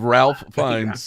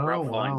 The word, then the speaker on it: Ralph Fiennes: Have I been mispronouncing? You have Ralph Fiennes. Yeah. Oh, Ralph Fiennes.